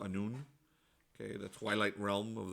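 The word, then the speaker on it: Anoon: the land is named noon a-n-o -o-n all right I think it might be a-n-o-u-n on but it's pronounced a noon King all right you have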